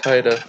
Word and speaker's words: Haida: It's Haida.